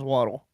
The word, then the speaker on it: water: And we pronounce water as waddle.